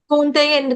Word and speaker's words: कौन्तेय: कौन्तेय, कौंत नहीं, काऊ, कौन्तेय, काऊ, COW को क्या पढ़ते हैं, काऊ, ग आऊ को गाऊ, हिंदी में गाऊ, इंग्लिश में काऊ, वहीं पे आ जाएगा कौन्तेय, कौन्तेय।